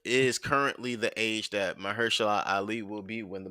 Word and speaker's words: Mahershala: Are they still going with Marshall? However you say his name. Mahershala Ali.